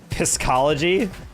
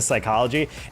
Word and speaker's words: psychology: oh, it was reverse psychology. Like I was pronouncing the P and the S in the psychology. And a bunch of the comments were like, does he not know that it's psychology, not psychology?